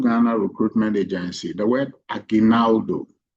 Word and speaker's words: Aguinaldo: The word Ainaldo. Ainaldo. I know most people struggle to pronounce it. Ainaldo is a Filipino word from the Philippines.